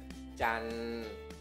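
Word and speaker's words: จันทร์: Jadi dibacanya Can, siang apa?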